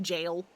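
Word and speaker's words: gaol: I think I've said this before, but I am still so sad that, like, G-A-O-L is still just jail. And it doesn't have any fancy pronunciations.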